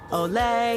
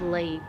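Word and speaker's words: Ley: Olay. Olay. Olay. Feeling hot. Hut. It's pronounced Lee.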